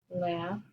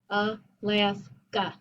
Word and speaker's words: Alaska: Like, for example, in the word Alaska. That's an open syllable. Alaska. Alaska. Two open syllables. But I don't say Alaska. I say Alaska.